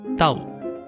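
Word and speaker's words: 兜: She then names her son after the visiting object, which in Cantonese pronounced Dao.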